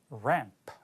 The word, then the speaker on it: ramp: 발음의 함정입니다. part 2에서 가장 두드러지지만 part 1에서도 유사한 발음으로 함정을 만드는 경우가 있어요. 자, ramp죠. 자, 그림 속에 등장한 환이 밝혀져 있는 것이 ramp예요? 아니죠. 그거는 lamp고 D번에 나올 겁니다. 이거는 ramp예요.